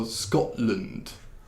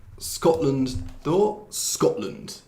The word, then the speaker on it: Scotland: 그래서 주로 land 그 나라 이름에 land 맨 뒤에 있으면 land이라고 하지 말고 그냥 lund이라고 발음하는 거예요. 그래서 Scotland, Iceland. 그래서 Scotland도 Scotland.